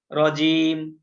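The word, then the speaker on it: رجيم: আমরা বাক্যের শেষ অংশ এই কারণে মিম ও সাকিন করে পড়তে হবে রজিম আমরা বানান করব মিম জের কিন্তু করবো হচ্ছে রজিম উচ্চারণে ম করবো উচ্চারণ হ্যাঁ তাহলে পুরাটা হলো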